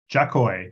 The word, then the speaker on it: Jakoi: the show description my guest today is Liz jacoy did I pronounce that properly yes you did great job